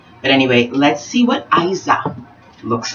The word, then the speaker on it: Iza: And today's beauty episode will be the styling of Iza, or it could be pronounced Iza, or it could be even pronounced Iza, or it could be pronounced Issa, or it could be pronounced, depends on what nation you come from. The Iza wig, I choose to pronounce it the Iza wig.